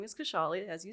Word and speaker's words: Khushali: for the audience absolutely so my name is kashali as you said I'm in my late 20s